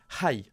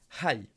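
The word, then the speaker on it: はい: Oui, il faut prononcer le H. Hai, tu as raison. Hai.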